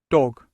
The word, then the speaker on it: dog: Boy, girl, girl, man, man, woman, woman, dog, dog. Cuidado para não colocar aquele som de I no final do G, no final